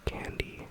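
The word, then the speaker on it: kandi: Um here what you see people wearing are the bracelets are called candy. Um candy is spelled K A N D I.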